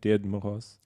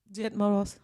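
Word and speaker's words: Дед Мороз: Died Moros. Died Moros.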